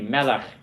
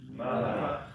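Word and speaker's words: מלך: Okay, another one accented on the first syllable. It's not melech, it's melech. Repeat after me, melech. Melech.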